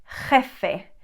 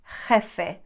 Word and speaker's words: jefe: pronounce it second one letter j is also a dance i always say that this is like an angry cat sound sounds like that's me exaggerating big time it's not